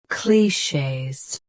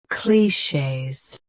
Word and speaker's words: clichés: Clichés. Say cli, then shays. Focus on sh. Clichés.